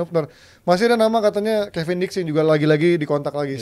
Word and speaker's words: Kevin Diks: Iya sudah tebal banget sebenarnya tapi kalau ngomongin soal Kevin Diks ya bacanya.